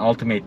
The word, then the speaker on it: Ultimate: Yani Ultimate diye okunuyor aslında.